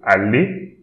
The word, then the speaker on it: aller: Then again, E-R, pronounce it E. So, aller.